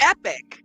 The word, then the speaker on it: Epoch: Epic. Epic is an acceptable pronunciation of that word.